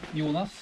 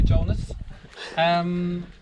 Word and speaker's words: Jonas: My name is Jonas. That's how you pronounce it in Norwegian. You can just call me Jonas.